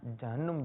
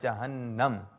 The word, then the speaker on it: جہنم: اچھا بہت سے لوگ نا جہنم جہنم کرتے ہیں، تو اس کا صحیح تلفظ ہے جہنم.